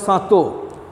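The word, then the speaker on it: châteaux: is the sato it is it can be pronounced as sato c-h-a-t-e-a-u-x sato c-h-a-t ux it is a castle lead by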